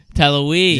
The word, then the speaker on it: Talouis: What's the pronunciation? Talouis? Talouis.